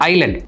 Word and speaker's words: island: அந்த எஸ் இருக்கிறனால நிறைய பேர் இஸ்லாண்டுன்னு சொல்கிறதுக்கு வாய்ப்பு இருக்குது, இல்லைனா ஐஸ்லாண்டுன்னு நிறைய பேர் சொல்லுவாங்க. ஐஸ்லாண்டு டோட்டலி வேறு. இந்த வேர்டு வந்து எப்படி ப்ரொனவுன்ஸ் பண்ணோம் அப்படின்னு பார்த்தீங்கன்னா ஐலண்ட். அந்த எஸ் வந்து சைலண்ட், அதை நீங்கள் வந்துட்டு ப்ரொனவுன்ஸ் பண்ண வேண்டாம், இட்ஸ் கால்ட் அஸ் ஐலண்ட்.